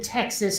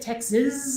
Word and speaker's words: Texas: when someone's a Texan if they pronounce it Texas instead of Texas. If it sounds like a Z at the end of it, they're almost certainly a native Texan.